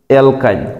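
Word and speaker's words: alkyne: এটা হয়ে গেল কি অ্যালকাইন উচ্চারণ হবে কি আইন এবার আমরা আরো কয়েকটা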